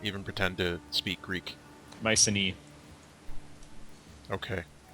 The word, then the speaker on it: Mycenae: Mycenae. Okay. AE is E, pronounced E in Greek.